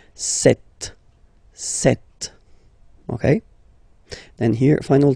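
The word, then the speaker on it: sept: Then here, remember, P is not pronounced. Okay, it doesn't exist, so you get this set sound. Set.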